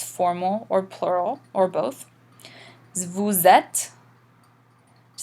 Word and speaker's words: vous êtes: You'll notice again, instead of reading vous êtes, in the French they run this together in something called the liaison. It makes the sound like the English Z.